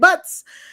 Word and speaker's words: Butz: That last name might be pronounced Boots, but I'm pronouncing it Butz.